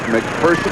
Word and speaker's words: McPherson: Dick McPherson, the New England Patriot head coach, he prefers it to be pronounced McPherson. He says there's no fear in person.